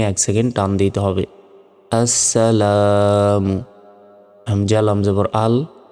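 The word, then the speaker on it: السلام: এটি এই শব্দের অর্থের কারণে এ লামটা দেয়া হয়েছে কিন্তু যখন উচ্চারণ করব তখন এই লামের উচ্চারণ হবে না হামজা সিন জবর আস সিন জবর সা লাম আলিফ জবর লাম মিম পেশ মু আসসালামু দেখুন জবরের বাম পাশে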